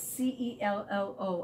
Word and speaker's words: cello: a cello i know it says c-e-l-l-o and it's pronounced with the c-h sound cello here's what a